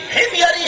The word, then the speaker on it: حمیری: بادشاہ طباع الاول حمیری، جس کو حمیری بولتے ہیں، تلفظ کی ادائیگی حمیری ہے، طباع الاول حمیری، فوراً